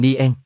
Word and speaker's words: Nguyễn: bỏ dấu cho nên Nguyễn được chuyển hóa thành nien đồng thời người châu Âu không phát âm được vần nguy nhưng khi họ phát âm từ Nguyễn thì ta có thể hình dung ra từ nien nhưng tại sao lại